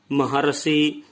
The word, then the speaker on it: महर्षि: अर का उच्चारण यहाँ पर होता है, न कि रे का। देवर्षि, महर्षि, सप्तर्षि।